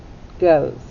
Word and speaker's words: goes: ahead and map it it starts with a g g sound and what kind of o do we have that's right we have a long o don't hear the e and the s makes what sound that's right it makes a z sound goes let's trace to